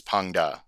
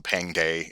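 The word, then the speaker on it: Pang De: against in the last battle is Pang Da, or I think they call him Pang Day in this version of the game, but I believe Pang Da is maybe closer as far as the pronunciation.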